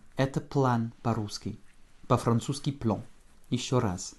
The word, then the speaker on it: план: Это план по-русски. По-французски plan. Еще раз. Je n'indique pas l'accent tonique, tu sais pourquoi. Hein. Nous n'avons qu'une seule syllabe ici. Donc forcément, il tombe sur A.